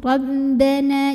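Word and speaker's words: ربنا: Ra dibunyikan secara tafkhim karena baris ra-nya fathah ya, jadi barisnya di atas. Maka bacanya ditebalkan. Bagaimana cara menebalkannya? Dengan mengangkat pangkal lidah kita atau bagian paling belakang dari lidah kita. Ro, ro, ya, bunyinya tebal lebih mengisi rongga mulut kita.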